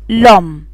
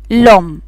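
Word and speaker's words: l'homme: عندي كلمة هنا لو أم يعني الرجل، المفروض ان هي عندي الأو والأش دو فايل حرفين متحركين، فبحذف الأو وعملها أبوستغف والنطق أقول لوم لوم على بعضها لوم، يصبحوا نطق واحد.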